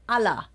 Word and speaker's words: Alter: So I'm from Frankfurt, and we pronounce it Allah.